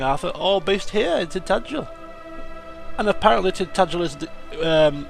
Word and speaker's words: Tintagel: I was calling it Tintagel, obviously phonetically that's how it's spelt, but it's actually pronounced Tintagel, or at least according